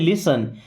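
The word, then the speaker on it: listen: देखिए यहां पे टी साइलेंट है। क्या पढ़ते हैं? लिसन।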